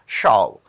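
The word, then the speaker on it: shove: Next point देखते हैं number 17 पे, हमें फिर से एक सिनोनिम बताना है शो, ठीक है, जबकि इसकी एक्चुअल प्रोनाउंसिएशन होता है शॉव।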